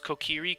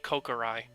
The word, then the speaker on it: Kokiri: I've seen someone pronounce Kokiri Kokorai.